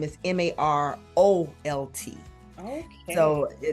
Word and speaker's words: Marolt: A lot of people pose the two, but last name is Marolt. Okay. So Marolt, and then that is Facebook, and then the Instagram.